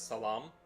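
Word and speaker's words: سلام: This is hello in far farsy pronounced as salam.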